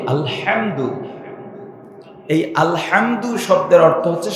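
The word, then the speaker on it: الحمد: একটা বড় বলি যদিও ভাইটি আরবিতে একটাকে হায় হত হায় হাওয়া বলে একটা উচ্চারণ হবে গলা চিপে আলহামদু এই আলহামদু শব্দের অর্থ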